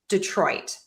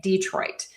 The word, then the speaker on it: Detroit: I have this written two different ways because I hear two different things. I say Detroit. I do hear people say Detroit. So, both are okay.